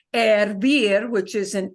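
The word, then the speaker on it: hervir: but the I.E and we don't pronounce the h of course with that uh verb ervir which is an e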